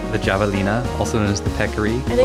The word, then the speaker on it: javelina: Like the javelina, also known as the peccary, I think or the they're skunk usually pig. called javelinas, Javelina. like the Spanish pronunciation.